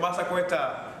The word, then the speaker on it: Massaquoi: If you read, you see I have there, I'll pronounce it in Pele, it's called Massaquoi, which means Massaquoi Town.